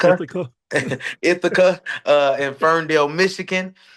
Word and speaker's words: Ithaca: I don't know how you pronounce that street name. Is it Ithaca? Ithaca.